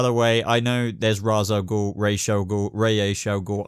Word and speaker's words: Ra's al Ghul: she wasn't really like that but it's definitely ray H al Ghul and yes by the way I know there's Ra's al Ghul ratio go ray a showgirl I'm just deciding